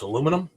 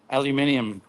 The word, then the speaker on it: aluminium: not your your fault you can't pronounce aluminum aluminium it's aluminum it's aluminium isn't it aluminium aluminium aluminium aluminium